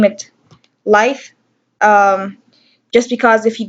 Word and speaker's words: Laejth: I just name it Laejth. Um, just because if you Google that name, you will never see a definition for that, and that's the name of my son with a silent J.